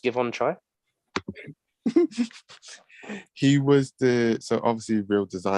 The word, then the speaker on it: Givenchy: in two different ways so Givenchy um is that how you say it yeah um things pronounced give on try he was the so